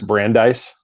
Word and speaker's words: Brandeis: You also got, I'm going to butcher the university, so I'm going to let you, and I want to say it's Brandeis.